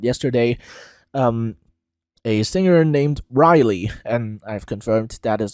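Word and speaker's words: Reiley: that was held yesterday um a singer named Riley and I've confirmed that is the pronunciation it's not Rayleigh it's Riley um with the song Breaking My Heart um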